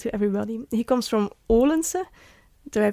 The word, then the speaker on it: Odense: He comes from Odense. Do I pronounce it right?